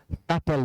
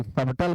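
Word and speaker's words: subtle: 1 में डीम है, 2 में स्टैंडर्ड है, 3 में सटल, सबटल मत पढ़िए, सटल पढ़िएगा, बी साइलेंट है।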